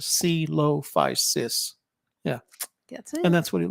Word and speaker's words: Coelophysis: we were both wrong it took us till the end of the visit to the museum to figure out I think Shelly figured it out first because it said it said how to produce pronounce it it had to pronounce it C Lo-Fi sis yeah and that's what